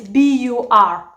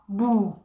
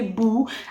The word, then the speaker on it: bur: However, it's the same spelling, which is B-U-R, boo. In Acholi would be boo, and in the Luo is possibly bur, because they tend to pronounce the R as I mentioned earlier.